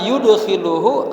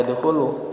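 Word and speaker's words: يدخل: Fa innallaha yudkhiluhu, ini bacanya adkhala yudkhilu. Jadi bukan dakhala yadkhulu. Jadi ini udah mulai sulasi ditambah satu huruf jadi rubai. Dakhala jadi adkhala, beda tuh.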